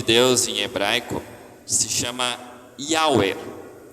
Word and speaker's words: Yahweh: A gente falaria assim, Yahweh. Alguns vão traduzir por Javé, Yahvé. Mas é curioso que as letras YHWH, Yahweh, se a gente pronunciar da forma correta, fica um sopro, um suspiro, que é o que